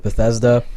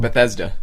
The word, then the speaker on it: Bethesda: Bethesda. Bethesda. Okay. It's pronounced exactly how it looks.